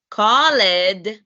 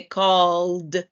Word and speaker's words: called: So in the first one, instead of called, That's not correct because the double L, it's a voice sound. You would say called, called.